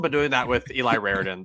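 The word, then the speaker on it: Raridon: Raridan. Rarin.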